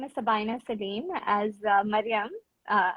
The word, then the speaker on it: Sabaenah: introduce yourself sure uh so my name is Sabina Salim as uh Maryam uh your Mariam right so as Maryam rightly pronounced uh it's very rare So I was